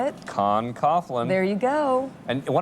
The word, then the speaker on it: Con Coughlin: guests Saddam author how do you say it Con Coughlin there you go and why don't you admit